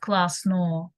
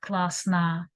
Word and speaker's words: классно: The final O, A, it is O and A, something in between.